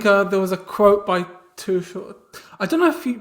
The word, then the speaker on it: Tuchel: Yeah, I think there was a quote by Tuchel. I don't know if you pronounce it Tuchel, like the manager. Or Around too cool. Tuchel, yeah.